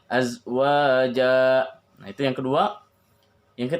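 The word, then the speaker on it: أزواجا: Ketika misalnya kita berhenti di azwaja, azwaja juga sama. Ketika menjadi mad iwad, maka bacanya 2 harokat. Ya. Ayyubdilahu azwaja, azwaja, azwaja, 2 harokat. Yang membaca ayyubdilahu azwaja, harusnya azwaja.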